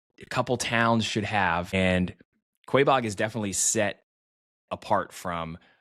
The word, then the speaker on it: Quaboag: I think that's how you pronounce it. I've been corrected. I think I called it Quaboag in a video on Instagram, but Quaboag seems to be the way you pronounce it.